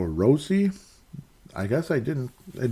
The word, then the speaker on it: Rossi: here comes Marco Rossy did you know Marco rossy's name is pronounced Marco rosi I guess I didn't